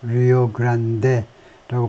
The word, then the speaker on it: Rio Grande: the Rio Grande가 이제 원래 이쪽 그 스페니쉬 쪽이니까 리오 그란데라고 발음하는 게 괜찮겠네요.